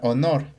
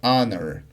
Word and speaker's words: honor: Entonces, en este caso, debes tomar en consideración esas palabras y aquí sería an honor. Aquí la h no se pronuncia, por lo que se emplea el artículo indefinido an.